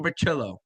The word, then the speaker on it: Bricillo: We got the Italian pronunciation, Carmine Bricillo.